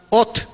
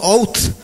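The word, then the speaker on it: אות: en el hebreo original es la palabra ot o también se pronunci out out significa este señal signo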